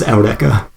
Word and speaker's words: Eureka: as Eureka is spelled, and then they still pronounce it like that in the dub. So it is Eureka.